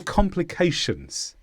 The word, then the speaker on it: complication: 90 volition complication or complications this is a noun with the stress on K complication and this means a